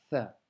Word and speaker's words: ث: fois, ça sera un Tha. Pour la prononciation, cette fois, à ne surtout pas confondre avec un F de la lettre Fa, car ça, c'est vraiment une autre lettre.